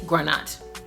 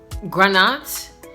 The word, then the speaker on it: granat: So they're saying ground nut, but they pronounce it granat because they like put it together and they just speak fast.